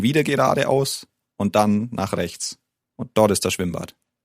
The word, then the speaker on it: Rechts: Rechts. Rechts. Rechts. Okay, it's quite tricky, the sound at the end there. There's a t, and a s.